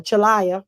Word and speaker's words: Chalaya: had Butch chalia uh chalaya is how you pronounce his name he was here in